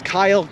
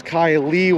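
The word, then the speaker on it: Kile: i was in cleveland his name is kyle with an i k-i-l-e really really cool dude my commuter says his name wrong it says kylie when i put kai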